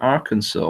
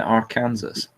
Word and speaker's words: Arkansas: they wanted me to pronounce it Arkansas why did they spell it Arkansas if you ever been